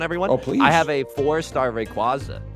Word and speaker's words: Rayquaza: I have a fourstar Rayquaza. Like it it has perfect IV. Uh, actually it's pronounced Rayquaza.